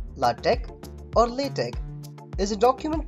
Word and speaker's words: LaTeX: it is said that late length which is pronounced latech only tech is a document preparation system for